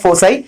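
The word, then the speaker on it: foci: Form क्या है हमारा, फोकाई। मतलब बहुत से इसको मतलब प्रोनाउंसिएट ऐसे भी करते हैं फोसाई, बट आई यूज फोकाई।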